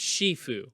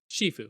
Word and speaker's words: Shifu: It's pronounced Shifu. is it? Yeah, Shifu. Is that like the Chinese of it?